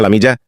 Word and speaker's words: Lamia: Namanya Lamia, yang di Indonesia dibacanya Lamija.